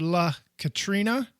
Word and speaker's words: La Catrina: This character is called La Catrina. If you're going to put some emphasis on that R or the N, you can by all means do that. You want to roll your R.